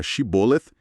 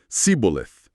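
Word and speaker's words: shibboleth: Os guardas de liraditas pediam pros suspeitos falarem a palavra hebraica shiboleth, que pode ser espiga de cereal ou corrente de água, algo assim. O material explica que, pelo visto, o dialeto de Efraim não tinha o som de X. Não conseguiam pronunciar, né? E isso eles falavam tipo cboleth.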